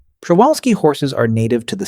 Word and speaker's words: Przewalski: The Przewalski horse, pronounced roughly Przewalski, which is not how most English speakers attempt it on their first try, is often described as